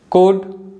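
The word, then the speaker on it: could: Walk, third one है कुड, fourth one है शुड, fifth one है फोक और लास्ट वन है योग। तो आप देख सकते हो जो लेटर एल है इन सभी वर्ड्स में साइलेंट है।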